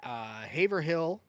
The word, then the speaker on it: Haverhill: the largest Dunkin' facility in the U.S., which is located in Haverhill, Massachusetts.